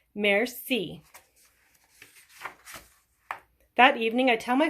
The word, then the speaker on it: merci: I teach everyone how to say thank you in French. It's merci. You say it like this, merci.